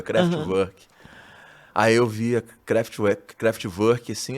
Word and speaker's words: Kraftwerk: Na época eu falava Kraftwerk, né? Que é como estava escrito. Depois eu fui entender como é que se pronunciava, Kraftwerk.